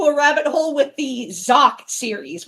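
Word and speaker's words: Xak: with the Zach series, which is spelled X A K. Zach, I believe the kanji of the title, it's supposed to be pronounced, I think, as Zaku. I think it's supposed to be pronounced as Zaku, but a lot of people just call it Zach, so I'll call it that.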